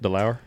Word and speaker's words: DeLauer: Is that how you say it? DeLauer? Yes, you got it.